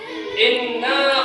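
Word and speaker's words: إنّا: Kemudian yang kedua, inna khalaqnakum, ya. Inna khalaqnakum. Huruf nun bertasydid, ya. Ada huruf nun itu ya bertasydid, jadi harus hukum bacanya harus guna ya. Harus jelas ya. Inna ya. Dengungkan ya. Inna khalaqnakum.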